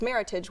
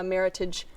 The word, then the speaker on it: Meritage: from Washington State, and it's a combination of the words merit and heritage. So it's actually, if you see a Meritage blend on a wine list, it's pronounced Meritage as opposed to Meritage.